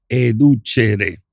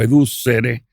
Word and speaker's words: educere: Entonces, una se llama, una se dice, perdón, educare en latín y otra dice educhere también en latín o educere, la depende la pronunciación. La c a veces se suena como ch.